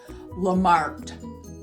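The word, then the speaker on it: Lamarthe: And it looks like it's Lamarck, M-A-R-T-H-E, but you do not pronounce the H, so it's pronounced Lamarck.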